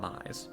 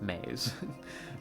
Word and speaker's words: Mays: Not Mize. Mays.